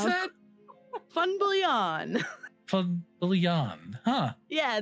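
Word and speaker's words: Van Biljon: do you pronounce that fun billion from billion huh yeah the v is an f the j is a y yeah yeah i i always i always read it on twitter as van billion yeah that is super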